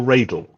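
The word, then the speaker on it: Radle: urgent bass i understand bobby whitlock calls him karl radel so i'm going with carl ragel as my pronunciation although before i would have done rattle i don't know that's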